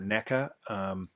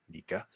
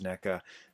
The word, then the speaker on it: NECA: the one thing about NECA Nika I will always mispronounce it Nika and MacFarlane but the